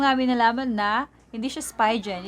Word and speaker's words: Spigen: from Spigen. Yeah, so lately lang namin nalaman na hindi siya Spigen, it's Spigen.